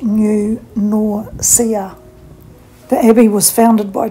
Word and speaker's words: New Norcia: town which is pronounced nature new nausea is pronounced new nausea The Abbey was founded by two Spanish Benedictine